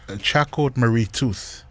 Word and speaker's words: Charcot Marie Tooth: e alu ko masingo ko so it's actually pronounced Charcot Marie Tooth.